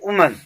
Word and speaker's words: women: अब देखो WOMEN था, तो उसका जो प्रोनाउंसिएशन वुमन होता है, ठीक है। जब इसे हम प्लूरल में लेते हैं तो प्रोनाउंसिएशन वीमेन।